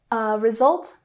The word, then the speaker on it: result: Result has the emphasis on the second syllable, result.